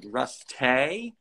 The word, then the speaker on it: Ruste: like the joke was it was rusty with like a tilde you know and it was supposed to be pronounced like rust hay and uh not that